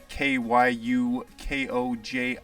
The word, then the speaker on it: Kyukoji: huge shout out to Kyukoji or Kyukoji or whatever, however you want to pronounce his name. It's Kyukoji.